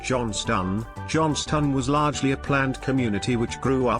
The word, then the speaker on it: Johnstone: I am here today to provide facts about the town of Johnston, pronounced Johnston.